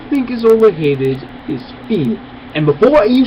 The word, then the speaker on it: Fi: think is overheated is fee and before you say anything yes i know the proper pronunciation of her name is phi but i hate that